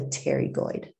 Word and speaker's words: pterygoid: mass masseter and the pterygoid so this p is silent and it's called a pterygoid muscle so the temporalis muscle